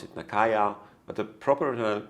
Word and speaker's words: Nakaya: It's pronounced by some Nakia, by some it's pronounced Nakaya, some pronounce it Nakaya, but the proper pronunciation, I especially checked with Japanese friends recently, it's Nakaya.